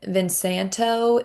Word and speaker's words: Vin Santo: Uh Danny is asking if Vin Santo is um do you v i n s a n t o is that how it's spelled?